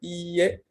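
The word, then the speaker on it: いいえ: La negación no es IE, sino IE con una I larga.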